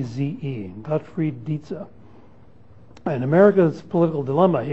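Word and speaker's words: Dietze: a political scientist at John's Hopkins named godfried daza uh wrote a great little book called America's political dilemma and that's spelled D IE T Ze godfre daza and America's political dilemma he explains this he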